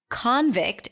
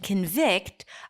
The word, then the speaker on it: convict: you do that because if you don't then convict and convict are going to sound exactly the same convict convict right